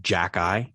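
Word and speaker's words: Xhekaj: up arbor um uh jackie jackie correct just jackeye okay because the reason why i'm confused with how you pronounce this was if you aren't familiar with this prospect his last name is spelled x h e k a j phonetically that's a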